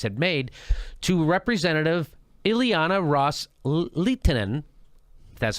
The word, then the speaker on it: Ros-Lehtinen: Sunnis Arab states had made to Representative Ileana ros-lehtinen that's how you say her name quote with